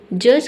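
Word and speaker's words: judge: तो डी के बाद अगर जी ई दिखे तो वहाँ पे डी लेटर क्या रहता है, साइलेंट रहता है। ठीक है, यानी कि डी को हम नहीं पढ़ते हैं।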